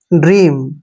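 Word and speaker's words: dream: अब देखिए डी का उच्चारण डे करेंगे, आर का उच्चारण री के रूप में करेंगे और EA को हमने यहाँ पे बड़ी की मात्रा पढ़ना है और एम को मैं। ड्रीम, ड्रीम क्या होता है, स्वप्न, ठीक है, ड्रीम, स्वप्न, क्लियर।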